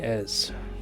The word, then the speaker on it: Es: You can call me Ez. Okay. Uh, a S. But it is pronounced like.